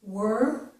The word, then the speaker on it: were: For this one, this word actually has two pronunciations. It has a stressed pronunciation and it has an unstressed pronunciation. The unstressed pronunciation sounds exactly like this word, okay? This is were. The unstressed version of this is also were, okay?